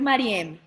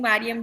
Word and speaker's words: Mariem: que esto haya sube mi nombre es maría o sea es maría con acento en la del final pero muchas personas me dicen marian de hecho mi mamá